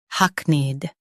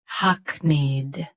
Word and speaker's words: hackneyed: shown on the screen, hackneyed. Both US and UK have the same pronunciation of this word. Stress hack. Keep need soft and quick. Hackneyed. Hackneyed. Stress hack. Keep need soft and quick.